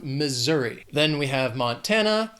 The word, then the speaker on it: Missouri: This state has 3 syllables and the stress is on that 2nd syllable. Missouri. That S is gonna have more of that Z sound, Missouri.